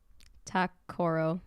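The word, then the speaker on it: Ta-Koro: So, for instance, like that, how would you pronounce that? Zoller. Yeah, that's right. How about that? Takoro.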